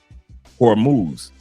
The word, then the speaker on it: Hormuz: Let me see if I pronounce it correctly. Hormuz.